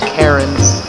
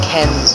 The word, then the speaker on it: Cairns: Australia I don't know it's spelled c AI RNs you would think it's pronounced Karen's but it's Ken's or something like that and we're going to